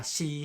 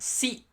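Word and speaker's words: し: Sa, shi, su, se, so. Pay attention that we have this sa, not si, but shi.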